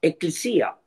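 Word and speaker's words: ἐκκλησία: se dice la iglesia así se pronuncia en griego eclisa y sabe cómo se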